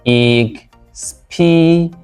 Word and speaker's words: expedient: Option C is correctly pronounced expedient, expedient.